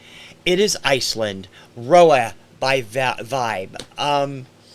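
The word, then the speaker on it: VÆB: The band is Vibe, V-A-E together, B. It's pronounced Vibe.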